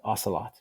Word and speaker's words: Ocelot: This is what we saw with Willow with Myurana and now with Ocelot. Willow used new quantum error correcting code QEC and Microsoft is pursuing topological cubits. Ocelot rhymes with Camelot and Lancelot, but it is a midsized species of cat.